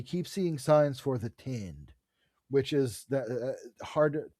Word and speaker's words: tind: Uh and so as he's walking around, he keeps seeing signs for the tind, which is that hard to pronounce.